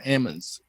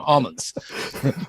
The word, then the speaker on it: almonds: we've been grading colonies for ammons they call them ambulance if you're down there they don't call them almonds so so during the